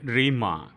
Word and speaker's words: rhema: और वो ग्रीक शब्द का उच्चारण हम इस तरह से करते हैं, रेमा, RHEMA, रेमा।